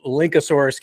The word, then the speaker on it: Linkasoarus: It's spelled a little bit different. It's link, and the kind of the catchphrase, if you will, the mantra is link and soar with us. And so it's not spelled like a dinosaur per se.